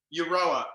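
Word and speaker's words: Euroa: the beginning with you uh how do you pronounce that your hometown again aurora europa e-u-r-o-a europa is in knock-knock who's there uh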